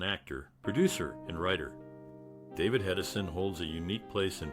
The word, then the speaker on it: Hedison: David Hedison holds a unique place in popular culture, as his name is part of the Statler Brothers song The Movies, rhyming with Thomas Edison.